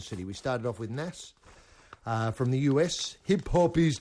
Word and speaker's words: Nas: hip-hop is dead and the pronunciation is nars but you can say nasa if you want to and everybody will understand what you mean uh bills will ring